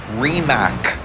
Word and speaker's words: Rimac: actual CEO who says the name of this company is remac he decided to go with the international pronunciation because that's what you